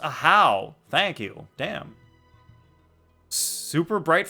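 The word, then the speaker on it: Ajaw: Wow, aha is pronounced ahow.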